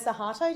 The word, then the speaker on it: Suharto: talking about Sukarno Suharto. Did I pronounce that correctly?